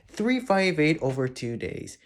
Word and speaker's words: 358/2 Days: Let's start off with the one most people are most famous for, aside from Chain of Memories, 358 over 2 days. Yes, that is how you pronounce it.